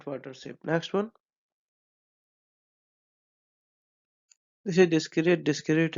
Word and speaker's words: discrete: Next one, this is डिस्क्रीट डिस्क्रीट। इन दोनों का जो प्रोनाउंसिएशन है वो दोनों का सेम है।